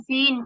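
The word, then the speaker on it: feign: correct प्रोन्सिएशन एफ ई आई एन जी एन फिन फिन म्हणजे दत्तकथा दंतकथा दंत कथा एफ ओ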